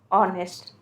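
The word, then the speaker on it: honest: तो ऑनेस्ट क्या है, ये स्वर वर्ण, यानी कि स्वर से जिसके उच्चारण हो रही है, तब इसमें हम लोग क्या लगाएंगे, ए एन लगाएंगे, ना कि हम लोग इसमें ए लगाएंगे, ठीक है।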